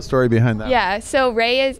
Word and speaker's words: Rae: So Ray it's spelled R-A-E.